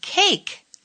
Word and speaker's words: cake: i'm being silent sir sometimes i am silent e when i come at the end of some words you can't hear me at all like the words bake and cake when you write these words i'm there but when you speak the words i'm not there at all i'd like to hear